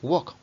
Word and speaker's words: woke: Sí, walk, como la comida asiática.